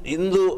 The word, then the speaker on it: Hindu: For years we were correcting the wrong pronunciation of Hindu as Indu.